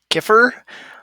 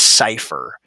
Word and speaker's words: cipher: I bet you saw like Caesar Kiffer. That word, it's actually that C right there. That's actually a soft C. It makes an S sound. Unfair, I know. So the word is cipher.